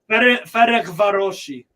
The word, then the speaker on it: Ferencváros: You want me Real, to pronounce that? please do. Ferencvárosi.